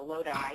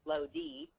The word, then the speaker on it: Lodi: it's napa sonoma or lodi and please know how to pronounce the it is not low d and i've had that